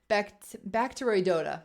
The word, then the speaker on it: Bacteroidota: of this bacteria bacterioidota oh Lord help me with the pronunciation bacteroidota there we go bacteri DOTA bacteria in